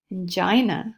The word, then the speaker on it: angina: Angina or angina it's pronounced both ways is referred pain, so the pain in the arm, pain in the back, resulting from a heart attack.